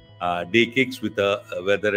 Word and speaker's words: DE-CIX: so it's called Uh day kcks with a whether it is written like C but pronounced with the K so it is the